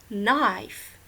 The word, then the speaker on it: knife: funny you should say knife the K is silent okay nope other examples